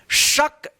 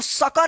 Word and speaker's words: शक: जैसे इसको पढ़ेंगे कैसे, शक, शक, देखिए लास्ट वाला जो अक्षर है क, इस पे जल्दी उच्चारण हो जा रहा है, यानी शक, इसको सका नहीं पढ़ते हैं, शक, शक।